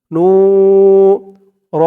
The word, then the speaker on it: نور: নু র দুই জবর এখানে দেখুন থামার জন্য চিহ্ন দিয়েছে তো যদি আমরা এখানে থামি তাহলে আমরা উচ্চারণ করব নূর নূর দুই জবরের উপরে ওয়াকফ করলে এক জবরকে বাদ দিয়ে এক জবর দিয়ে এক আলিফ টান দিয়ে পড়তে হয় কলবি নূর আল্লাহুম্মা ফিলবি